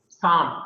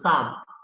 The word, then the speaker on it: psalm: And in English, you have word Psalm, P-S-A-M, Psalm. Though their speech is silent, Psalm means it is a hymn, it is a devotional hymn.